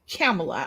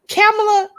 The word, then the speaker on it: Kamala: so if her daddy was jamaican guess what camilla oh is it kamala kamala okay i don't sound like messing up